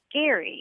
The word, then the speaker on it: Gerry: learned that the person who it's named after pronounced his name Gary and I wonder why we never said Gary